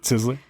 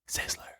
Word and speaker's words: Sizzler: my life was it sizzly he he he worked at sizler really he worked at sizler he was also good at adding first you're not saying it right it's Sizzler